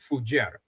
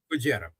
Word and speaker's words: Fujairah: Moreover, what they hid in the UAE is the pipeline and the port of Fujairah. Am I pronouncing that correctly? Fujairah.